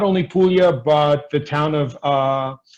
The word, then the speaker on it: Puglia: it's not puglia it's p-o-o-l-i-a that's how it's pronounced puglia and in italy it's not puglia it's apollya